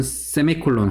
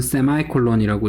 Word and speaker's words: semicolon: 그리고 이거는 세미콜론 혹은 세마이콜론이라고 읽고요.